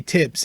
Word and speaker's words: Tibbs: You pronounce Thibodeau, but when you say Tibbs, it's just the T that you pronounce.